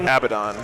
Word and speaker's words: Abaddon: my defense the audiobook the games workshop official audiobooks pronounce it abaddon he's gonna dual charge